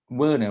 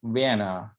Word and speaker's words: Werner: Okay, you may pronounce it in English Werner, right? But in German it's called Werner Heisenberg.